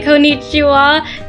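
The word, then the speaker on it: こんにちは: in Japanese is Con can you say Konichiwa like this kichi just say it it's very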